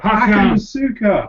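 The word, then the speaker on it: Hakan Şükür: Hakan Suka.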